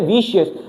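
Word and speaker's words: vicious: सी को सी पढ़ता है और कभी-कभी सी एच को को पढ़ता है। तो ये विषयस। क्या है? वीशियस। इसकी प्रोनाउंसिएशन क्या है? विशेस।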